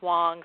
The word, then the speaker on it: Whang: And my last name is spelled Whang, but it's pronounced Wong, so that's confusing to everybody. It's a soft A sound.